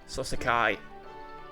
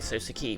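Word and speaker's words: Soseki: me suaki please okay key not Kai that makes more sense thank you NIS call me S key please I'm a poet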